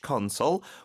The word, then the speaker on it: console: It's not like soul, but console.